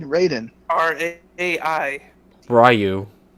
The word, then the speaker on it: Raiden: the roster Black Manta ridin and Hellboy interesting you didn't say it right it's Raiden oh right I didn't